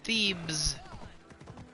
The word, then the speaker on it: Thebes: Thebes is still a Greek city today. No, Thebes. It sounds a lot like, but it's spelled with a B.